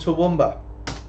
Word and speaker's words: Toowoomba: Don't try to pronounce it. It's called Toowoomba.